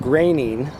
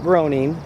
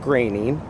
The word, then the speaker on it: Groening: I should and I'll tell you why Matt graining not groaning it is actually pronounced grainy is actually a portland native and he was